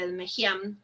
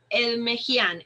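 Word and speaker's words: Ekmekdjian: Sí, es medio difícil, si quieres se lo deletreo, es Edmejian, es E-K-M-E-K-D-J-I-A-N. No pronuncio yo las K, pues son difíciles ahí, Edmejian.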